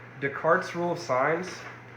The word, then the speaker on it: Descartes: descartes rule of signs so you pronounce this descartes renee descartes french mathematician came up with this